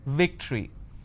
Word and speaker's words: victory: If you have the letter V, you need to bite your lower lip. It's victory.